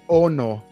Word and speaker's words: ono: Em Maori é Ono. Ono? É, tipo a Yoko Ono, Yoko 6.